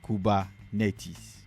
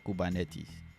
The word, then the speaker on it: Kubernetes: Yes, Kubernetes or Kubernetes. Huawei. The pronunciation says Huawei.